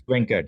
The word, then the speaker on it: Venkat: I've got a new friend that I met, Venkat. Did I pronounce it right, sir? Yep, it's Venkat.